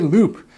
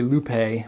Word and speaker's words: Loupe: you about the goule loop I know if you look at how it's spelled it looks like it's goule Lupe but no it's pronounced Loop uh and it's a